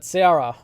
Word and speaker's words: Seara: I always mispronounce this name because it looks like Sarah, but Seara, close, but based on the Greek goddess of darkness Nyx.